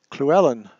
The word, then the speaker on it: Llewelyn: the pronunciations just yeah Llewelyn like Fluellen right it's like Fluellen in shakespeare hopefully you hear i